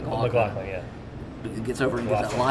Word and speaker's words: MacLachlan: You had to build the two when Kyle, how do you pronounce his last name? McLaughlin, yeah.